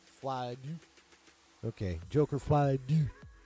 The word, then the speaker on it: Folie: Folie.